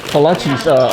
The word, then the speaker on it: Kolaches: Kolaches? Kolaches, okay.